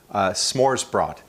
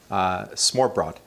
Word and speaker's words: Smørrebrød: A name for this style of brunch, I think the pronunciation might not be right, but it's Smørrebrød. So Smorrebrød. Smørrebrød.